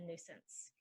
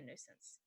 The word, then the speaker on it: nuisance: I wouldn't be a nuisance my neighbors knew since I moved in that I wouldn't be a nuisance the next one is